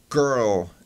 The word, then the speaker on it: girl: l sair ó então a palavra Girl é mais ou menos dividido em três partes né é o Girl r o Girl Aí você coloca tudo junto e sai girl girl aí Você limpa aí